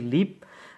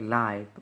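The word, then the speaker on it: live: লাইভ, এখানে কিছু কথা বলে রাখি আগে, সেটা হচ্ছে লিভ শব্দটা ভার বেশি ইউজ হলে সেটার অর্থ হচ্ছে, উচ্চারণ হচ্ছে লিভ, এবং সেটা ভার বেশি যুক্ত হলে এর অর্থ হচ্ছে বসবাস করা বা জীবিত থাকা।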